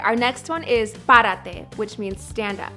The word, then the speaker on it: párate: All right, our next one is párate, which means stand up. Párate. Stress that first syllable, pa.